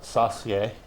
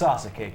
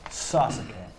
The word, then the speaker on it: Sasuke: also the great Sasuke, but Or Joey Styles pronounced it Sasuke. no, Not quite pronouncing it the full way. it's Sasuke, kids. Say it with us at home. Sasuke.